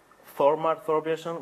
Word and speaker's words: Thor Thorbison: Um, if you want to learn how to pronounce the name, pronounce that th like that or a thorn of a rose thorn.